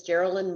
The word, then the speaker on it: Geraldine: As Jason said, my name is Geraldine. Geraldine rhymes with Maryland, and is like hamburger, so it's a tough one to know, but that's how you say it.